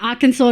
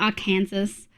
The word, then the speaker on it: Arkansas: Arkansas, not our Kansas.